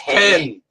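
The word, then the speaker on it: Penh: It's pen. Pen. Penne. It's got an H at the end. It's penne. P-E-N-H. Pen. The H is silent.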